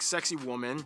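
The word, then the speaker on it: Sacsayhuamán: This one, you're kind of supposed to pronounce it like sexy woman.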